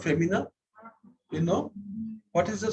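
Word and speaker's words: fémina: So if you write F-E-M-I, femi, N-I-N, I-N is an, so it is femina. That is the right pronunciation, femina.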